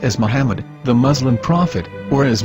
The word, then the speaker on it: Muhammad: Ben yehuda's Hebrew English dictionary it is correctly pronounced as Muhammad not mahmet so how we're going to know for sure if it's pronounced as Muhammad the Muslim Prophet or as mahmad a random